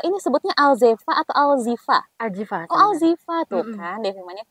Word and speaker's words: Alzheefa: hari ini nih mengenai alzeva ini sebutnya alzeva atau alzifa alzifa Oh alzifa tuh kan sudah salah apa Iya benar karena e-nya dua ya Jadi dibacanya alzifa bukan alzeva yaia ini Z terus